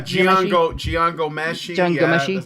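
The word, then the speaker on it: Jian Ghomeshi: And if you want to go out of the United States, there's how do you pronounce his name? Gianmessi? Yeah, Gian Gomeshi.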